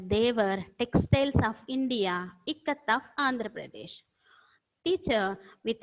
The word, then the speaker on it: ikat: Some students pronounced it as I-cat, E-cat. No. The exact pronunciation is ikkat.